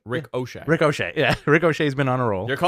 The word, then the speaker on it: Ricochet: You said his name wrong. What do you mean? You said Ricochet. Rick O'Shea.